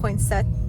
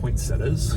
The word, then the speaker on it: poinsettias: past 5 minutes because I was mispronouncing poinset. What do you say it? How do you say it? Poinsettias. Poinsettias? I need to double check this. I feel like I'm saying it right.